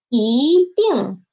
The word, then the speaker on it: 一定: Okay, and when it is before fourth tone syllable, it will change to second tone, okay? For example, 一定. Ding is the fourth tone, so it changed into second tone.